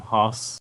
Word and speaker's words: Haas: sound, I will widen it up with some Haas. It's spelled Haas.